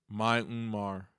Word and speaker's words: Myanmar: Myanmar.